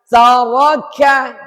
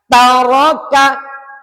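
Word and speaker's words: تَرَكَ: Hati-hati di sini tidak boleh tsa, tsa, tsaro, enggak boleh. Ta. Ini ka, ka, enggak boleh ka, ka. Tidak boleh dibaca tsaroka, tidak. Taroka.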